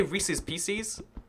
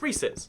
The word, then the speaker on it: Reese's: guy's a serial killer if you say Reese's pcs it's like rhyming is not more important than correctly pronouncing things so ya know i'm i i'm a Reese's it's Reese's it's Reese as in Reese's a nice guy he sells us peanut